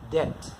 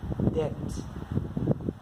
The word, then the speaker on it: debt: เ ร า อ่ า น ว่ า debt น ะ ค รั บ ไ ม่ ใ ช่ debt น ะ ฮ ะ debt ตั ว b ไ ม่ อ อ ก